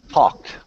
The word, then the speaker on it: talked: The next one, if the word ends all right, so ending in the sounds P, K, F, S, and CH, we say T, okay?